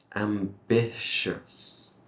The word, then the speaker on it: ambitious: same motivated or ambitious So This Ti sound will give us a sh ambitious and then we finish it with a s sh ambitious make sure